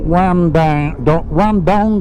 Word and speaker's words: Wandong: Okay folks, we're going to be hanging a right towards the small town of Wandong, actually spelt Wandong or something like that, but with an Australian accent it's pronounced Wandong.